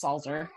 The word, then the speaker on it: Salzer: want to make sure my last name is actually pronounced salzer german i want to